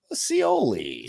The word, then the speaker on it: Scioli: pronounce his last name cioli slowly like aiolia kind of I guess I guess